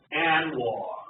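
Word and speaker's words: ANWR: I'd like to talk about this little place called Anwar. It's really spelled like that.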